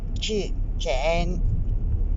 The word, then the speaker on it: Chichén: en el estado de Yucatán en maya se pronuncia Chichén boca del pozo de los Brujos del agua